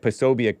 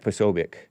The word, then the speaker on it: Posobiec: It looks like Posobiec, but it's pronounced, I guess, Posobiec.